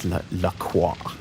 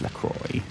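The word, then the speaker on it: LaCroix: I don't think it's Laqua. I think I I think it's Lacroy.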